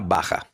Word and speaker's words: Baja: È una La J va pronunciata come in Spagna Bacha.